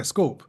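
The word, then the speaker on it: scaup: was looking for scor is it scorp or scope scorp scope scorp yeah scorp yes that's interesting because it's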